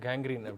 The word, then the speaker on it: கேங்க்ரீன்: Doctor, இந்த காங்கரியன் food அது எப்படி டாக்டர் ப்ரொனவுன்ஸ் பண்ணோம், நீங்கள் ப்ரொனவுன்ஸ் பண்ணி காட்டுங்க. அதாவது கேங்க்ரீன் கேங்க்ரீன்.